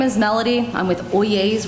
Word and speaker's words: Oyezz: is melody I'm with oh yeas Real Estate's pronounced oh yeas like oh yes but oh yeas I should turn the